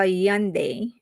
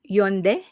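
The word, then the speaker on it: Hyundai: I drive a Yande. Wait, I was scolded on how I pronounce this. It should be Yund.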